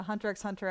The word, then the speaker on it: Hunter x Hunter: pronounce the X uh Hunter x Hunter I do pronounce the X yeah it just rolls